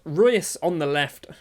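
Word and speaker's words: Reus: sancho on the right royus on the left i can never say royce it's royce isn't it it's basically r-o-y-c-e royce is how you'd kind of pronounce it he'll be on the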